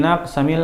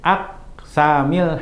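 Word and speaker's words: أقسام: Taib, hamzatul dijadikan hamzahnya seperti tidak ada. Agar apa? Agar baitnya seimbang. Sehingga kalau kita baca seperti aksama yuksimu aksaman, Kita harusnya bacanya wadhi min aqsamil hadithi iddah, tapi baitnya jadi nggak enak. Nah makanya alifnya tidak dibaca, hamzahnya tidak dibaca.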